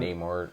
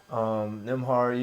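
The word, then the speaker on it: Nembhard: Neymar. You know what I mean? Say his name right. Nimhard, yeah.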